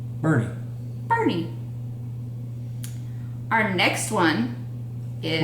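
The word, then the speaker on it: Boerne: So, our first word is, now then, you would pronounce that Bernie.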